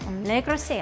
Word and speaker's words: Le Creuset: Ano nga, paano pronounce? Le Creuset? Hindi ko sure. Le Creuset. I said it kanina. I was right.